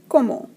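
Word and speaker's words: comment: como means how and we do not pronounce the nt at the end of the word it's pronounced como so our question sq2a2d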